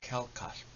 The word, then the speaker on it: kelkasp: It has the sh sound in it. Asp. The sh sound is like you ready the inside of your mouth to pronounce the letter L, L, but you accidentally pronounce the letter H with your wind.